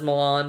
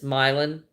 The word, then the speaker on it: Milan: in milin Tennessee and he says Milan and I don't know I know other people pronounce it as Milan but it's milin and uh yeah if